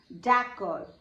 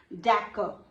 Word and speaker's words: d'accord: But here you have to focus on the full pronunciation, d'accord. Okay, d'accord. So D is silent here and usually R gives you K sound, K.